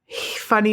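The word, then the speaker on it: Funi: And Funny Man, which means squirrel man in Choctaw. It's F-U-N-I? F-U-N-I, but it's pronounced funny. Okay.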